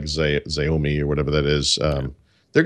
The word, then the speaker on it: Xiaomi: I don't know how you pronounce it, like Xiaomi or whatever that is.